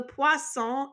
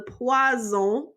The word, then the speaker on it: poisson: It's different when you spell it, but be careful how you say it. Make sure you have the s sound, poisson. Because if you say le poison, that means poison. So le poisson is fish, le poison is poison.